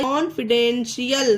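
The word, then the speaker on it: confidential: से कॉन्फिडेंट हो गया, और जब लास्ट में TIAL है तो TIAL को TL ना पढ़कर शियल पढ़ेंगे।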